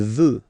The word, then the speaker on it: veut: Il veut. Final T not pronounced.